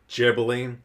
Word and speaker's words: Ghibli: And then really quickly on the whole Ghibli pronunciation, it's Ghibli.